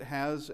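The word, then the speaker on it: ὁ: omocron and of course it has a soft breathing uh or rather hard breathing that is a hard breath mark on top of it and that is pronounced ha.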